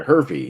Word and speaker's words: Hervey: Jason Hervey, yeah, it's H-E-R, Hervey, yeah, Jason Hervey.